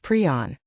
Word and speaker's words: prion: In his 1982 paper introducing the term, Priner specified that it is pronounced pron.